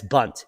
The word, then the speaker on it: Bundt: of a podcast no bundt cake that's bunt b-u-n-d-t i think that's how